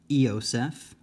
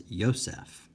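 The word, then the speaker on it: Ἰωσήφ: be an ADA but when it's followed by a vowel it often has kind of a y sound so I did not uh pronounce this as as EOS I pronounced it as ysf um so that's just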